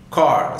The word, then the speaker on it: chord: Chord, C-H-O-R-D, chord, C-H is deleted.